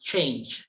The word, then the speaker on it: change: That should be pronounced as change, not chain.